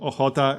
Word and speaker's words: Ochota: So, here we got Żoliborz, Praga, Wola, Śródmieście, Ochota, and Mokotów. That's how you pronounce all these names, by the way.